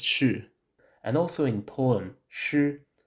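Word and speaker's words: 侍: For example, the character for temple, pronounced si in Mandarin, is used in the character meaning to serve, pronounced shi, and also in poem, shi.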